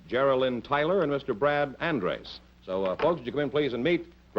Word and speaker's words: Andres: Oh, and you're Brad Andres? That's Is that right. the way you pronounce it? Andres, yes.